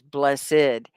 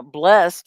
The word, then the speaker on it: blessed: the one syllable blessed and you can say that both ways blessed now blessed makes it a verb blessed is an adjective oh shahad when you're